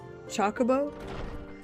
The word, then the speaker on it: Chocobo: The wrong syllable of chocoo. Chocobo.